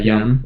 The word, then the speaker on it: Jan: Do you pronounce it Jan? Yeah, Jan.